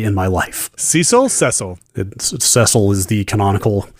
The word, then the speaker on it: Cecil: Cecil is the canonical pronunciation.